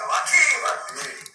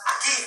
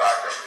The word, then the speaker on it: Akim: It's spelled Akim, but it's pronounced Akeem. I would have said Akim.